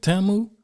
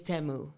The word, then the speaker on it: Temu: Is that how you pronounce it? Tamu? I thought it was Timu. It's Temu. Temu.